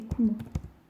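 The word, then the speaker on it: くも: C'est kumo.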